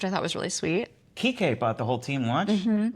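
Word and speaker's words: Kiké: Kike Hernandez? Kike. Am I saying it wrong? Kiki? Kike.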